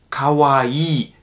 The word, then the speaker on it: kawaii: eben was das angeht wenn ihr zwei hintereinander habt im japanischen dann wird das immer verlängert also kavai das auch ganz wichtig